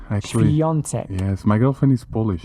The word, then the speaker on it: Świątek: A great beginning of hopefully a new star in tennis, Iga Świątek.